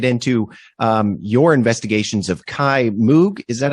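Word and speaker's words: Kai Mügge: so let's get into um your investigations of kai moog is that how you say his name muga ze german correct yes and uh you how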